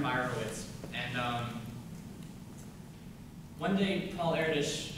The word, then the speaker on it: Erdős: And one day, Paul Erdős, it's pronounced Erdős, in case everyone thinks I'm really weird for pronouncing it right, and not wrong, like Erdős. It is Erdős.